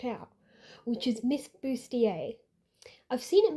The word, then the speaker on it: Bustier: you're seeing it spelled out, which is Miss Booier. I've seen it mispronounced before, and that can happen when you're